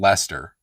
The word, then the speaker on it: Leicester: Yeah, Leicester is pronounced Leicester.